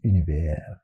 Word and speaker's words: Univers: I think Adrian Frutiger would pronounce it Univers.